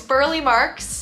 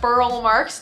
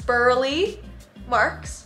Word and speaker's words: Burle Marx: about roberto burleigh marks i've been saying this poor guy's name wrong for the last two years so it's burley marks not burl marks it's burly marx roberto burley marx this guy was freaking